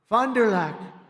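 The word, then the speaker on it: Fond du Lac: in Fond dulock Wisconsin fonderlac nice I love these names I wish they could give me a little easier name she's a just H they told me that's the way you pronounce it so I hope I got it right but an illegal alien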